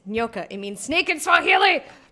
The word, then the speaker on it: Nyoka: in Graham's writing, or the characters calling her Nyoka, which is not how Nyoka is pronounced. It's Nyoka. It means snake in Swahili. For the millionth time, it means snake in Swahili. It's pronounced Nyoka.